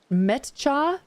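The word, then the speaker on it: Meccha: Ah, fun fact, no one I've heard talk about Mecca pronounces this right. It's met Metcha.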